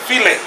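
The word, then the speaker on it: filé: Gumbo fowl, but it's pronounced filet.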